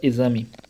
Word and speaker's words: exame: Vamos pegar aqui a palavra exame. Observe o seguinte, tem som de Z.